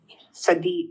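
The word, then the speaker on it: צ: Sadi and the final sadi.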